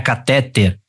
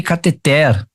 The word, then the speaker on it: cateter: também não é uréter assim como não é catéter é ureter e cateter beleza e Lógico né